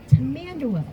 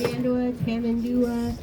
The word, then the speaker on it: Tamandua: So, being a type of ant leaders, they're known as tamanderas. I believe you've heard that. Yes. Tamandua, different pronunciations, but all the same.